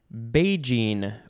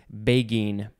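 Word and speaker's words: beguine: we have the word beijing or begin i think it i always get confused about the g and g j sound but i think this one is begin it is spelled b-e-g-u-i-n-e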